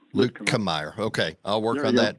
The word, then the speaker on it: Luetkemeyer: name correct i've got luton meyer am i pronouncing that correct yeah it's pretty close it's luke kamyer okay i'll work on